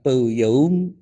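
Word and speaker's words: peuyeum: Karena kalau fermentasi haram berarti kita makan peyum ya. Saya bacanya harus saya ejak peyum gitu ya. Peyem itu haram gitu kan.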